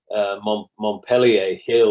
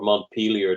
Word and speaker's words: Montpellier Hill: There was a place called Montpellier Hill, or Montpelier, depending on your pronunciation.